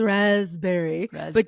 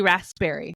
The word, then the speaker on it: raspberry: It has a P and you don't you you don't pronounce the P in raspberry is raspberry. There's a P there for some stupid ass reason. So, it should it's really raspberry.